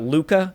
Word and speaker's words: Luca: We've got from Pixar, we've got Luca, I believe it's pronounced.